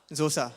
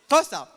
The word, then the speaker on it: Xhosa: this please yes okay x-h-o-s-a how would you pronounce that zosa right zosa xhosa but the reality was that I I was shocked when I found it out X is tried up xhosd it's first now it's tosa so this African language uses sounds like all